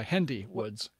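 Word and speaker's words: Hendy Woods: we went to wendy i remember how to say it because it rhymes with wendy it's handy hd h-e-n-d-y handy woods handy woods state park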